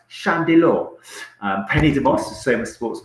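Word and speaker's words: Llandeilo: Also, we had in the studio Mark Bleasdale, sports massage therapist in Landelot, or apparently in Wales it's pronounced Chandelor.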